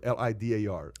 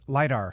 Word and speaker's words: lidar: cars like litter centers how do you pronounce that word l-i-d-a-r lidar lidar centers sensors soaring but